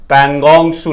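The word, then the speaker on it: Pangong Tso: अगर आपने पढ़ा है पैंगोंग सू लेक, ठीक है, पैंगोंग सू लेक, अब आपको पता होना चाहिए कहां है, टी साइलेंट रहेगा।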